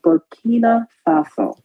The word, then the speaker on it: Burkina Faso: I'm probably going to say the name wrong, forgive me, but it's called Burkina Faso.